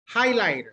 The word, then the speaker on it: highlighter: Listen carefully. Highlighter. Highlighter. Three. Highlighter. Three. 3 syllables. 3 syllables. Yes. Highlighter. Highlighter. Highlighter. Remember, the number of vowels that you hear indicate how many syllables the word has.